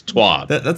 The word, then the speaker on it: Thwob: sort of credibility to a correct pronunciation. It's Thwob, and then there's someone else that lives in his own alternate reality that keeps trying to push it on us every single week.